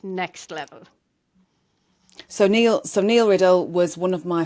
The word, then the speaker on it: Neil: So Neil is Neil, but spelled Nile, and then Paua is spelled Paua, not Pua, which is what people, and that's his joke too.